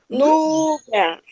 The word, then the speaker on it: Núbia: Núbia. Marli. Fala, gritem meu nome aí. Núbia. Núbia. Ó, Núbia. Núbia. Tônica do nome. É o Núbia.